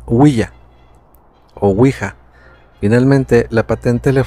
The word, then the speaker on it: Ouija: de ouija se deriva del francés oui que es Sí y del alemán Ja Que también significa así y que se pronuncia willa ouija finalmente la patente